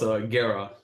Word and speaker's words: Guerra: It's definitely really close, Guerra. You don't even pronounce the...